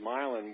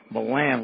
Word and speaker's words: Milan: Well, George, I want to thank you because I always referred to him as Milan, like the city in Italy. I didn't know that Milan was the correct. First time I learned that Milan was the correct pronunciation of his name.